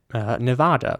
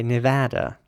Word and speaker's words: Nevada: So the British way would be Nevada, but since this is a place in America, I think it's, it makes sense to say Nevada.